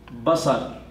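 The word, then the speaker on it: بصر: its singular, which rhymes with sam' is basar.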